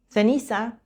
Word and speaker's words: ceniza: Las dos formas son correctas. Ceniza o ceniza, cielo o cielo.